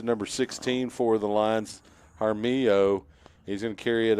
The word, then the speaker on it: Haro: to see how do you say Haro yeah Haro he he's been pretty good lately he came